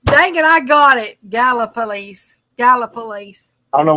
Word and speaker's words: Gallipolis: know why you gotta it's like you put extra syllables in the work I don't know it's just the way it looks I mean it's it looks like gala gala police I got it she's